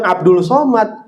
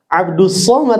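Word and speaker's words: عبد الصمد: Yang benar bukan Abdul Somad, Abdus Somad sebenarnya.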